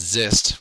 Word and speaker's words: XIST: and the first one is X um actually pronounced zist which is kind of funny um and the